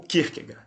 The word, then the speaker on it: Kierkegaard: foi o dinamarquês Søren Kierkegaard. Enfim, a pronúncia não é essa, mas como nós falamos em português, o Kierkegaard, o famoso Kierkegaard, né?